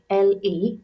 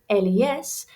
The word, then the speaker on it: les: So anything beginning with le, L-E, is masculine. Anything beginning with la is feminine. And anything beginning with le, L-E-S, is plural. Remember, we don't pronounce that S, and it's a slightly different pronunciation.